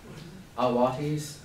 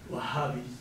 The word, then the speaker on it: Wahhabis: Am I pronouncing that right? Or close to it? Awatis? Wahhabis. There we go.